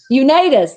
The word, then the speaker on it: Unitas: And I know I'm saying his name wrong too. Unitas.